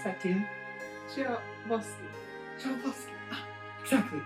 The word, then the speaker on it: Tchaikovsky: And, how do you pronounce that, dear? Tchaikovsky.